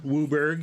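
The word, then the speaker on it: WUBRG: go to town yep that's the community way of pronouncing the color order Wu Berg in fact and a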